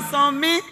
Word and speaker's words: Fasami: Is it Fasami or Fasmi? Fasami.